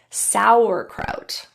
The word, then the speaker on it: sauerkraut: Let's practice a few words where the A is pronounced as ow. Flautist, schnauzer, sauerkraut.